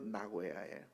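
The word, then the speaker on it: 名古屋: 나고야가 우리 발음으로는 명고옥이지만 1번 발음으로 나고야예요.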